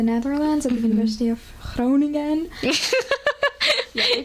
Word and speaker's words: Groningen: I study in the Netherlands at the University of Groningen. Yeah, they pronounce it like that.